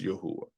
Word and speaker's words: Yahuah: When I read this through my investigation and through my studying, I pronounce it as Yahuwah.